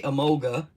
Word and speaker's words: Emolga: Say Emolga. Emoga.